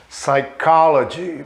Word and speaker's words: psychology: Psychology. Daqui a pouquinho eu vou falar sobre essa letra P que está em amarelo que a gente não pronuncia.